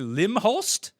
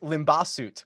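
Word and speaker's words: Limbhasut: We have last week's winner, a guy you talked to, KK Limhost. It is pronounced Limbasut, believe it or not. What?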